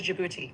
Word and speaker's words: Djibouti: The French territory of the Afar and the Isus got renamed in 1977 as this silent D and all. Adrien, what is Djibouti?